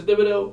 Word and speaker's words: Thibodeaux: Thibodeaux, I want to ask you, am I saying it wrong?